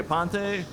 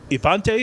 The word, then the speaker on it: Aponte: This is my AGM, Aponte. Ipante is how you say it last?